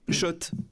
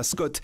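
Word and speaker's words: Schott: Oui, Shot et pas Scott. Ça fait des années qu'on prononce mal la marque.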